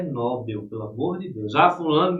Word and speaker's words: Nobel: Então é Nobel, é oxítona, gente. Nobel a síônica é a última.